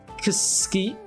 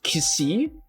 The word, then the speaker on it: Xi: In fact, C is not supposed to be pronounced as C. It's I think C was supposed to be pronounced as Ksi. Like, okay, the way you spell XI in pronunciation is KSI, so it's Kisi.